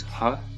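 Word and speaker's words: ह: which means small so our next letter is hot as in hug oftentimes at ha is in the middle of our door even at the end it's barely pronounced but if it's at the beginning they pronounced it pretty much all the time examples of how in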